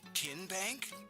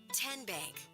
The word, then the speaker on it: TN Bank: How do you say the name TN Bank? Nope. Kin Bank. Uh-uh. So, what is it? Tenbank. 10 as in Tennessee.